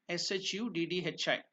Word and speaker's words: Shuddhi: Shuddhi. Shuddhi. That is the pronunciation. So there is Sanyukta Akshar again. Ddhi. So the words two or three consonants and letters swaras are joined. So it becomes Shuddhi.